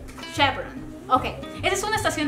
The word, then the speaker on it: Chevron: Alex porque mis hijas no saben cómo se pronuncia Okay Chon chevon Chevron Chevron Okay esa es una estación de gas es